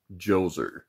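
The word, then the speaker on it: Djoser: about the Pyramid of joser my notes said that the D is silent I thought that might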